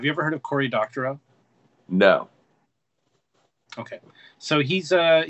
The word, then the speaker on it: Doctorow: So it's Doctorow, Cory Doctorow. Doctorow spelled like doctor with an O-W after it.